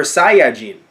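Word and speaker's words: サイヤ人: you guys don't know he pronounced it a Sian which isn't the way that Funimation does it but it's technically the quote/unquote accurate way when the when the Japanese version Brown says it as super Saiya gene or Josiah gene so which does become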